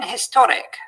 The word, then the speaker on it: historic: say a hotel but some posher speakers tend to treat a pronounced h as if it were not there so they would say in historic and n hotel h